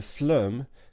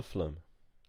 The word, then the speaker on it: phloem: the xylem or the phloem I really hope that's an acceptable pronunciation phloem flume phloem I will check with